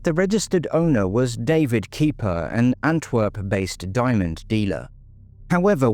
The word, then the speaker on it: Kiper: When he discovered the owner's surname was Kiper, pronounced Kiper, he immediately contacted the authorities.